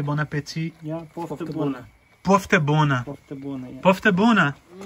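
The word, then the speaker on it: poftă bună: Yeah, poftebuna.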